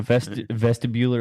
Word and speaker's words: vestibular: Vestibular, is that the way you'd pronounce it? Yeah, vestibular, like you're in a Vestibular?